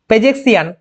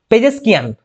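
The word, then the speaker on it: پزشکیان: বি হবে সঠিক উত্তর পরবর্তী প্রশ্ন সম্প্রতি Masud পেজেসিয়ান পেজেসকিয়ান okay Masud পেজেসিয়ান sorry to pronunciation wrongly Masud পেজেসকিয়ান কোন দেশের রাষ্ট্রপতি নির্বাচিত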